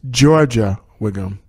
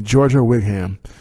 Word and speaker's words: Giorgia: It's Georgia Wiggum. And it's spelled Giorgia. So, excuse me. Georgia Wigham.